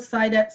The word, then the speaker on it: Saidat: Yeah, there aren't a lot of Saidats around. So, well, in Nigeria there are because it's a common name and it's also Arabic. So the correct pronunciation can be Saida.